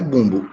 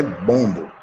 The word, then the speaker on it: bombo: é bom saber disso não é bumbo é bombo se pronuncia bolo mas é bom tá então você quer